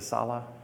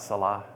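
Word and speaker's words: Salih: Is it Sala? Sala, S-A-L-I-H. Sala, not Salah.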